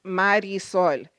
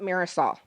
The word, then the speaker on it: Marisol: My name is pronounced Marisol. It's not Marisol. A mare is a horse, E is and in Spanish, and sal is a salt. So I'm not a salty horse. My name Mar, it means ocean or sea. E is and sol is sun.